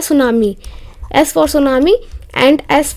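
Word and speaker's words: tsunami: की नेक्स्ट देखते हैं सुनामी इसका जो टी है वो साइलेंट रहता है तो नाम ही नहीं बोलते हैं सुनामी देखो जो सुनामी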